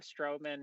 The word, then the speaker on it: Stroman: we have uh is it is it strowman am i pronouncing that right yeah that's right uh we have strowman here as our guest today um which i'd